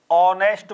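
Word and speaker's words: honest: आपको ही is dash ऑनेस्ट बॉय ही is dash ऑनेस्ट यहां क्या दे दिया आपको ऑनेस्ट और ऑनेस्ट कैसे लिखा जाएगा भाई यहां इस प्रकार ओ उच्चारण क्या हो रहा है एच इसमें में साइलेंट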